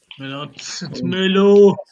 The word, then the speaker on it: Merlot: It's Merlot.